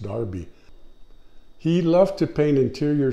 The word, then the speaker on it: Derby: joseph wright of darby i know it looks like derby but it's pronounced darby he loved to paint